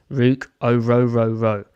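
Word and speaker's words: Ruke Orhorhoro: And then finally, a guy who does have 33-inch plus arms is Rook Orororo from Clemson. That's the pronunciation.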